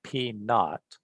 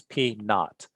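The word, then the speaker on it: P₀: For column capacity, ACI 318 section 22.422 specifies that P naught, that's how we pronounce that little 0 right there. So we call this P naught.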